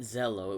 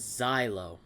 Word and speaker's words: Xyo: Okay, it wasn't Zello. It was Xyo. I knew I was mispronouncing his name.